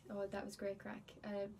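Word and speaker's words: craic: So like the first one is like without a doubt everyone knows like what's the crack, and crack is spelled C-R-A-I-C.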